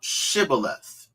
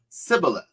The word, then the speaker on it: Shibboleth: You know, and there was an individual, he could not pronounce Shibboleth, right? He couldn't pronounce the sh, so it's probably had a list. Sibboleth, right? So there's a difference between Shibboleth and Sibboleth, right?